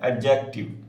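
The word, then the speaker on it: adjective: आ जाएगा एडजेक्टिव या एडजेक्टिव D silent होता है एडजेक्टिव तो उसमें आ जाएगा टी वाज टी वाज हॉट।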